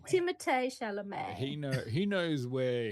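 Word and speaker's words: Timothée Chalamet: uh doing popcorn Market good on Timothy shom yeah yeah yeah no you're pronouncing it wrong Tim shal Tim shalam he know he knows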